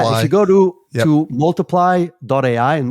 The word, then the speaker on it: multiplai: Yeah, if you go to multiply.ai, and multiply is spelled multiplai. I thought that was really cute when I came up with the URL, and now I have to spell it every single time. But think about multiply instead of a Y, put an AI in the end.